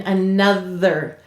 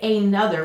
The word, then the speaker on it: another: And we'll underline the Now, we have the schwa sound here. We don't say another, we say another. And why is it a schwa? Any vowel may say its schwa sound, or I, in an unstressed syllable.